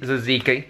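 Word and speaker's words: tzatziki: saiki I didn't see how do you say it oh that's Z zaziki yeah zaz okay and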